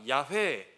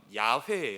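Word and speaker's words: 야훼: 스스로 있는 자 우리가 야외에 여호와 들어갔죠 여호와 여호와 하나님 들어갔죠 그 여호와 가 히브리 씹 발음으로 하면 야외에 요 약은 따라해 볼까요 야외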